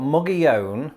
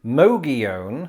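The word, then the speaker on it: Mogollon: and looking at wikipedia there's like three acceptable ways of pronouncing this you've got muggy own mogeone or magazone that is a tough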